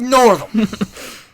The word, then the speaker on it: Northam: And the governor, Northam, is that how you say his name, Northam? Oh, yeah. Oh, yeah, old Northam.